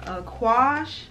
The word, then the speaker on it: Aquage: And what I actually purchased is, it's another very well-known line called Aquage.